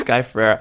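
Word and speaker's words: Sky Ferreira: Like, hi, it's Sky Frera. You pronounce her name with a really deep vocal fry essentially.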